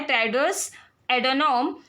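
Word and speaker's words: Tedros Adhanom: का नाम देके पूछे, तो इनका थोड़ा प्रोनाउंसिएशन अलग होता है, टेड्रोस एडोनोम।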